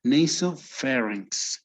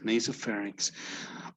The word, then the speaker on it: nasopharynx: words in this case this would be nasopharynx between an a and an e ok nasopharynx oropharynx notice the i'm